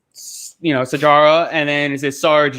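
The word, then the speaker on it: Sijara: It's funny you're saying Sahara. It's Sarge. It is? Yeah, it's Sarge. Really? Yeah. Wait, isn't that her nickname, or is that like? No, it's Sarge. The J is pronounced Sajara.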